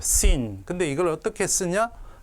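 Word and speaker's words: שׂ: 왼쪽에 있으면 시옷, 그냥 시옷 발음이 납니다. sin. 근데 이걸 어떻게 쓰냐? 자, 이렇게 한번 하고 가운데를 끄시면 됩니다. 이렇게 한번 하고 가운데 선을 끄고 점을 왼쪽에 찍으면 뭐라고요? sin.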